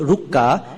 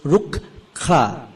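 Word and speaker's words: rukkha: And when you have ka, like KHA, the H is slightly audible. It's not rukka, it's rukha.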